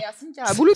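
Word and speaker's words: Ersin Karabulut: Hercine carabouout. Ser Hercine Carabouout, c'est ça. Voilà, ça s'écrit comme ça prononce.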